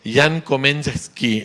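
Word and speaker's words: Jan Komenský: Pero Jan Komenski es como se pronuncia su nombre en su idioma natal.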